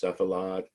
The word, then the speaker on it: cephalad: They're pronounced cephalad and caudad.